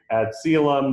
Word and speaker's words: ad coelum: that is from the ad column doctrine now it's a latin phrase sometimes people say add salem there's lots of different ways to pronounce it but in all